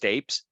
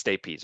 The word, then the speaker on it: stapes: that's the stirrup I I know this looks like it's pronounced tapes but it's stapes okay I promise you